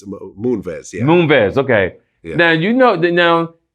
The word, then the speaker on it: Moonves: Am I pronouncing his last name right? Munez?